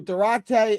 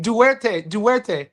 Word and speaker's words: Duarte: Duarte. I'm going to say Durate because that's just how I talk. You got me saying that, Duarte.